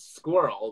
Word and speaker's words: squirrel: okay question number two do you pronounce squirrel with one syllable or two two i am in new